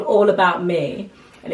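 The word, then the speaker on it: Mie: it's called All About Me, and it's in Canggu, but me is spelled M-I-E, which is noodles in Indonesian.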